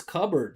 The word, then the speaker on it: cupboard: Another one, silent P. Look at this, cupboard.